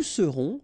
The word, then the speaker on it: serons: Je serai, tu seras, final S not pronounced, il sera, elle sera, nous serons, final S not pronounced, vous serez, a Z at the end, et serez, ils seront, final T not pronounced, elles seront.